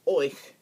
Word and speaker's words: euch: Or the word euch means which means that is a variation of saying you guys. Euch. So that's what that sounds like.